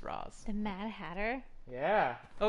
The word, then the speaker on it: Ra's: Freeze, Mad Hatter, and Ra's al Ghul, or Ra's al Ghul, however you freaking pronounce it. It's Roz.